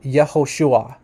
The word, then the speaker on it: Yahushua: here that the classical pronunciation which means like the pre-exilic name of of Yeshua is actually yahushua yahushua okay so this is